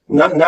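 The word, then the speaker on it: know: इट is farm we नो focus करना है silent पे और टी एच पे वी नो अब आपको पता है नो में के नहीं घुलता तो वी नो थ्री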